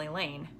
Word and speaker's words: Elaine: scared I can handle a lane rhymes with pain if you don't say